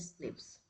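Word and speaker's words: SNPs: single nucleotide पॉलीमोर्फस जम they are pronounced as स्निप्स this information promise to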